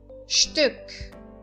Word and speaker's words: Stück: Stück. Stück. Verifiquem, eu estou enfatizando a vogal U aqui, certo?